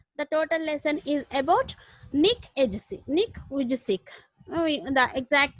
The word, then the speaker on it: Nick Vujicic: The total lesson is about Nick Vujicic. The exact pronunciation is Nick Vujicic.